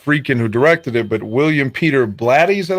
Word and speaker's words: William Peter Blatty: Now, obviously not Friedkin who directed it, but William Peter Blatty.